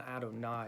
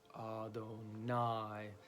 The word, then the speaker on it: Adonai: So on Adonai, it's going to be the last syllable that's kind of pronounced. So it's Adonai, and then A-Hey-Yay.